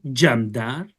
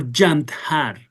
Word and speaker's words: jandar: In Persian we say I pronounce it again in Persian jandar or jantar.